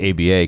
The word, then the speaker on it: ABA: It's just an article from ABA Journal, which you can't pronounce it. You have to say ABA, because then if not, you say ABBA Journal, and then people will